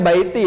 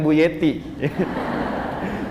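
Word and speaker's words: بيتي: Bacanya baiti ya, bukan buyeti.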